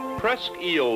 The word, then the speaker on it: Presque Isle: there's nothing but water press eel lighthouse they pronounce it eel not isle overlooks presque isle harbor